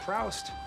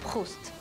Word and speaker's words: Proust: Well, look, it's not Proust. It's pronounced Proust.